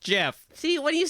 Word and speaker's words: Jif: i'm aware it's a has declared that it is pronounced jeff see when you say